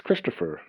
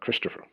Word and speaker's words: Christoph: when I introduce myself, they think it's Christopher or Chris. And so they stumble on my name to begin with. I always say my name became famous with the movie Frozen. I'm originally from Switzerland, and so that's why, my name is Christoph, not Christopher. So just to put that